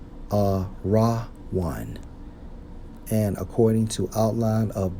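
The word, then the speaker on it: ארון: we focus on Ark according to the Hebrew Strong's H 727 pronounced as a raw one a raw one and according to outline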